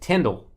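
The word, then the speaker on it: Tindall: Channing, Tundle. How do you say it? Tyndall, Dolphins.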